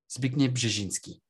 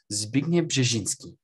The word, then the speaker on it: Zbigniew Brzeziński: ears feel listening to those people try and pronounce Zbigniew Brzeziński. How hard can it be? Zbigniew Brzeziński. Come on, try it with me. Try it with me right now. Ready, ready, ready, ready? Zbigniew Brzeziński.